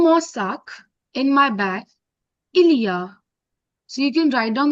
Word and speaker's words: il y a: It's not a single word, but it's pronounced together. अगर मैं अलग-अलग बोलूं, so il, e, a. ये तीनों अलग हैं, इनको साथ में नहीं लिखना है. But ilia There together are.